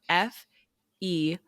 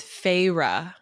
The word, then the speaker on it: Feyre: It's gonna bother you when you see how it's spelled, because what you want to say is like fair, or like fair, Feyre, fair.